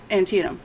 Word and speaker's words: Antietam: in the Battle of Antietam and Tia Tam right is that how you say it Cheatham Antietam okay um all she had